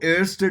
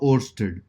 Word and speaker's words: Oersted: ठीक है, काफी लोग इसको एयरस्टेड बोलते हैं, बट स्पेलिंग याद हो वैसे याद कर लो, ओर्स्टेड।